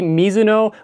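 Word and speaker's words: Mizuno: My next option may surprise some people, but it's the Misuno Wave Rebellion Flash 3. And yes, that is how you say it. It is a Japanese last name.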